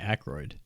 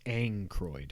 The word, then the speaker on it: Aykroyd: his name i say aykroyd i always thought i always used to when i was a kid i always thought there was an n i thought it was angroid oh it's definitely not